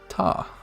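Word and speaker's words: た: looks like it says tah see in the uh the little picture here ta easy peasy all right and it's just pronounced ta like tata now here is our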